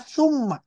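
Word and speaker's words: ثُمَّ: Yang masuk ke dalam haraf atf adalah kalau tnya didomahkan dibacanya tsumma.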